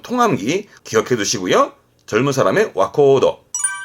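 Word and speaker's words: 若人: 와카모노나 같습니다만은 뒤에 사람 인자가 올 때 발음은 와코우도가 되는 특별한 케이스이기 때문에 이건 통함기 기억해 두시고요. 젊은 사람의 와코우도.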